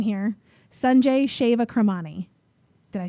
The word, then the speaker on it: Sanjay Shewakramani: Pause while I try to pronounce the name here. Sanjay Shewakramani.